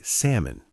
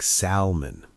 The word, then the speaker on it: salmon: Well, I was trying to say salmon, you know, the fish, but I kept pronouncing the L sound like salmon. Ah, the silent L.